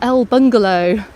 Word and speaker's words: El Bungalow: Now in the distance here, just in front of me, you can see a restaurant called El Bungalow. obviously not pronounced the Spanish way, but it's a fantastic place to get a paella.